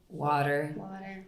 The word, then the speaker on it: water: I have to say, I do, when I'm teaching pronunciation, and we're doing an American pronunciation where some T's were pronounced more as D's. Water.